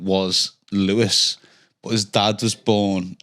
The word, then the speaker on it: Louis: So he's pronounced Lewis but his name is spelled Louis.